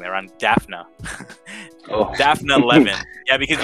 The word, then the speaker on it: Daphna: and it's created by ron leschem and uh daphne i'm sorry i'm pronouncing that i'm daphna oh daphne lemon yeah because you you read